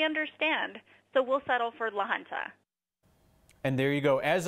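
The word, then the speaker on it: La Junta: proper way to pronounce Lanza is actually Lanza but we'll settle for it Lanza I mean it just means the junction in Spanish there's a little bit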